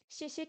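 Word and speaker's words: 谢谢: Xie xie, quatrième ton.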